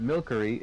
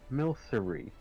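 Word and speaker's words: Milcery: Still can't admit that it's not Milkery, it's Milery.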